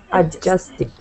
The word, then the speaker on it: adjusted: it doesn't exist because you don't really pronounce it you just pronounce it like this adjusted adjust perfect adjust all